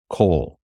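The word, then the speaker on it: כָּל: this word cough s it will always be pronounced coal or whole either one it almost it always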